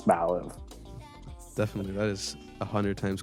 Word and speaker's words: Mallive: think of it, is it's like you're going to say Malibu, but then you say something that's a lot cooler than Malibu, and it's Malllive.